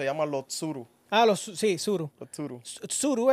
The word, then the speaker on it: Tsuru: Los Tsuru Ah sí sururu tusuru es como esur con t pero la t no se pronuncia es como nosotros anunciamos